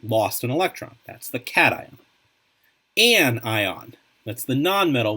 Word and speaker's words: cation: ions we have the cation cation is how you say that the cation is the